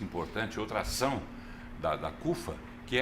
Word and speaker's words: CUFA: Central Única das favelas CFA pronuncia naturalmente CUFA Mas vamos lá Presidente